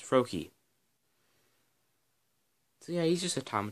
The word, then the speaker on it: Froakie: it's fro KY but the a is silent so it's froakie yeah he's just a